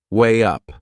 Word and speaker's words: weigh up: There is another linking sound in that phrase, to weigh up. Can you hear it? We insert a little W sound. Way up.